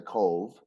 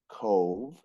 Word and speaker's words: Cobh: So we went to Cove, spelled Cobh, and it pronounced Cove, Mm-hmm.